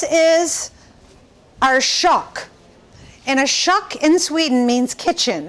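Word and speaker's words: kök: over here this is our shock and a shuck in sweden means kitchen it's spelled k-o-k with the two little dots over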